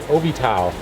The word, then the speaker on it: Ovital: And then the other iPad we have a program called Ovital. It's spelled O-V-I-T-A-L.